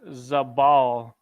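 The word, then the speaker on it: זבל: see the word dwell dwell is pronounced zabal and the word dwell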